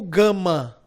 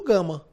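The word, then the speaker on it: γάμμα: dois alfas e o gama. E aí gama em português normalmente, como se escreve, é bom lembrar que ele tem o som de G, como em gato.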